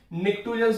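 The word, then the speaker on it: pnictogen: नाइट्रोजन family को हम निक्टोजन्स भी बोलते हैं। नाइट्रोजन फैमिली को क्या बोलते हैं, निक्टोजन। निक्टोजन कैसे स्पेलिंग लिखोगे, निक, पी साइलेंट होता है, निक्टोजन।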